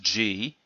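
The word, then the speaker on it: 地: It means ground or earth, pronounced G. By the way, you may, those who have studied the Oku list may know that the technique Jigoku Otoshi, and that's the same G as in Jigoku.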